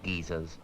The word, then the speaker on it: geyser: How is it pronounced in the US? We say geyser.